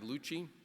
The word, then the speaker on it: Louchiey: Archie Roberts and our next our next guest is Corey Lucci as he reminded me it rhymes with Gucci he is a decorated